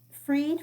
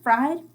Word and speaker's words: Fried: started Rush it's by Stephen freed fried it's spelled like fried um and in Kindle